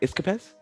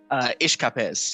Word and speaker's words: Ishkapes: Iskapes? Ishkapes. Yeah, ish, like with the ish at the beginning. Ish, you know, just a little ish.